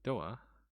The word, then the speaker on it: Doa: of the word though doa comes from the japanese pronunciation door and then both the